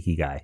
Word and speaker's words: Ikigai: By the way, you were pronouncing it correctly. Ikigai, definitely correct.